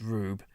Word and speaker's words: R/B: Yeah, the, um, R/B there is meant to be pronounced Rube.